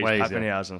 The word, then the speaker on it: Papenhuyzen: And I'd break it up into the Papen and the. I say, I should say.